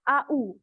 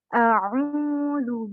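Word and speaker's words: أعوذ: Nah, jadi tadi bacanya AU. Kalau kita belajar makhorijul huruf itu dari apa? Tempat keluarnya huruf itu kan beda-beda ya. Ada A, ada A. Bukan AU.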